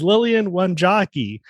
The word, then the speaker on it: Lillian Wanjagi: It's Lilian Won Joki. Did I pronounce it correct?